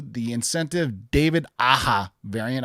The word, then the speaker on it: Aja: This is Star Wars Darth Maul number 2, the Incentive David Aja variant. I'm going to just say the J is silent. Or David Aja variant, however. Aja, yep.